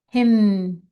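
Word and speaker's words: hymn: M Y T H myth symbol S Y M B O L him the N is silent H Y M N.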